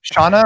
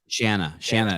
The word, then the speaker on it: Shanna: Shauna or Shanna? Shanna. It rhymes with banana.